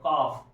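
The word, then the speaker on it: calf: Wife, W आई एफ E, wife, लेकिन यहां पर देखो सी ए एल एफ, काफ।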